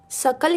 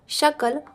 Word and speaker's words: सकल: यदि तुम व्याकरण पढ़ लोगे तो स्वजन के स्थान पर स्वजन सकल के स्थान पर शकल और सकृत के स्थान पर शकृत का उच्चारण ना करोगे। इस श्लोक में उच्चारण भेद से ही अर्थ का अनर्थ दिखाया गया है।